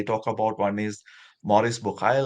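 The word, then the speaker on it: Bucaille: about one is Maurice bokai like in French I think you should pronounce Maurice buhari so he's a doctor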